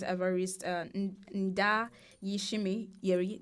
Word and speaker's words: Evariste Ndayishimiye: All right, let's we saw that Burundi's newly elected president, Evariste Ndayishimiye, did I get the pronunciation?